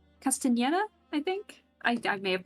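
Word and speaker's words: Castañeda: No, I know the N is pronounced differently with the little tilde in front of it. Mario Castaneda? Castaneda, I think?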